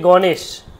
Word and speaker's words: গণেশ: এবার সটা কি খালি স যদি খালি ব্যঞ্জন করি তাহলে উচ্চারণ কি গণেশ এরকম হওয়া উচিত তারপরে অ থাকবে না তাহলে এখানে যদি প্লাস দিই তার সাথে অ যুক্ত করে দেব গণেশা এইবার দেখুন যখনই আমি